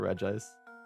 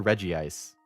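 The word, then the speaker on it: Regice: wall for reg ice do you guys say reg ice or Reggie ice like Reggie seel Reggie Rock then do you say Reggie ice or reg ice cuz I've heard it both ways it's no5 Ace turny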